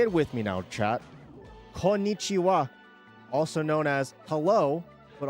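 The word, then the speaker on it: こんにちは: Konnichiwa.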